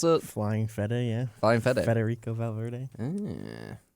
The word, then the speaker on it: Fede: Is that how you pronounce it? Flying FEDE, yeah.